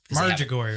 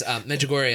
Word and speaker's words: Medjugorje: Margigori, right? Medjugorje. I can't pronounce it. That's why he's correct. Because we're in America, so it's a Medjugorje. No, it's Medjugorje.